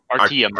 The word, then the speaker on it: Artyom: more connected to mm-hmm that's how you pronounce it right Artyom Artyom if you want to get the Russian inflection in there right yeah